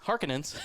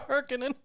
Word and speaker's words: Harkonnen: at everybody and the the harkins harkenings it's hard for me to say it like that oh it's a harkonnen why um why'd you